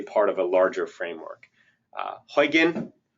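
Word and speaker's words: Huginn: Huygen is pronounced, it's spelled Huggin, but it's pronounced Huygen. Huygen is built on Ruby on Rails.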